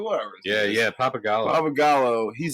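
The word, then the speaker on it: Pappagallo: Oh, it is Papagala. Yeah. I mispronounced it previously. I was like Palagallo, but I was like, whatever. Yeah, Papagallo.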